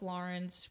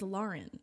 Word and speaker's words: Lauren: My name is Lauren. It's not Lauren. But it's spelled like Lauren. No. AU says aw.